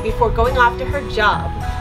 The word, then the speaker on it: Job: going off to her job which in the bible is pronounced job the books of old